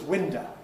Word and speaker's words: window: The word window, good example here, pronounced as window, where instead of an O at the end, you've got a schwa and a window.